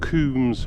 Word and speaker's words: Combs: Going up onto Coombs Moor, or Coombs Moss should I say, even though it's spelt Combs, it's called Coombs.